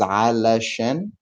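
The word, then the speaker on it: علشان: The full word is alashen, but when we're speaking quickly, we can say ashen.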